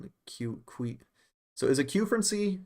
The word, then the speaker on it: quefrency: And no, you got to say que. Come on, it's quefrency. That's how it's spelled.